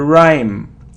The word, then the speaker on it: rhyme: or rhyme it's a rhyme rhyme so we don't pronounce H rhyme okay so surround geniune